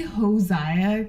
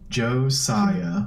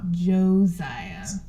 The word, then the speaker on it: Josiah: how it is it's Josiah Josiah and it's an S not a Z Josiah Josiah a tiger